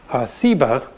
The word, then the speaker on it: Seba: think is related that has just a different S sound Seba dog explains that Sheba